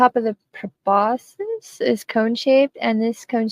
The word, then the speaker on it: proboscis: It seems most academics and people of science say it as proboscis.